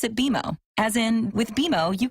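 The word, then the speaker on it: BMO: when you do I bet you'll call us BM o don't worry it's more common than you think but we actually pronounce it beo as in with bimo you can earn a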